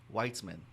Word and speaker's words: Weitzman: a conversation with uh weitzman you know the name w-e-i-t-z-m-a-n wheats man weitzman so i met him